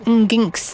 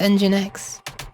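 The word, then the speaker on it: nginx: oh yeah I think I recently learned that that ginks is meant to be pronounced engine X but i' I've always said ginks cuz that's literally how it's spelled and it's what I'll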